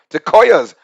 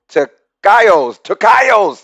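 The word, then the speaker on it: tocayos: share the same name Tecoyas. We got Tecoya Bros. Yes, sir. Tecoya Bros. Hold on, am I saying it right? Tecayos. It's got to be Tecayos.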